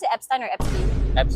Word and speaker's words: Epstein: Do you pronounce it Epstein or Epstein?